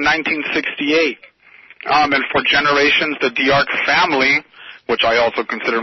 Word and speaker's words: D'Arca: Our establishment is called Diarca Formalware. That's D-A-R-C-A, and that's Italian.